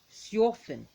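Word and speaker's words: Sjöfn: We have another one, which is Siofin. Remember, the J's are pronounced as J, like yours. So, you and yell.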